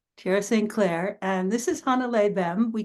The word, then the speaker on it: Hannele: is it Han something more like more emphasis on the beginning of it yeah yeah yeah you you put the emphasis on the first syllable okay thank you I